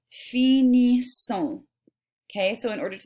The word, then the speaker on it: finissons: Okay, so this right here is pronounced finissons.